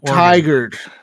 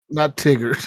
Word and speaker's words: Tigard: Tiger. Tiger. Tiger. Is that how you say it? Okay. Not Tigard.